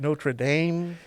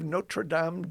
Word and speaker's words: Notre Dame: you say it correctly is it notra Dame no it actually the technical name for it is the University of notredam Dak ah there are two